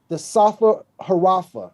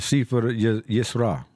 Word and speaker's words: Sefer Yetzirah: The cube of space is based upon two verses in the Proto-Kabbalah text called the Safa Harafa. I'm pronouncing that wrong. Are you familiar with this text? Yeah, the Sefer Yisra.